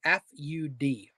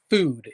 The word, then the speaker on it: FUD: and the brand was fud food is the way it's pronounced but when I read it it said fud and I was like